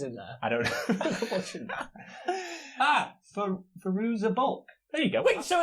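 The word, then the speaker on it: Fairuza Balk: David Wait, so Faruga Bulch is in there? I don't know. Faruza Bulk.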